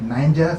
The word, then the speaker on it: Niger: There's another called Niger. It's spelled like Niger, some people say it's Niger, but it's not. It was called Niger.